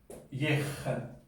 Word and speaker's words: ég: O sea, por ejemplo, para decir yo, pues dices Yej. Esta es una ye, como G española más o menos, ¿no?